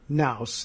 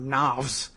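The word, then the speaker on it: Knauss: Melania here, who was Melania Naus then, or Navs, depending on how you spell and pronounce it.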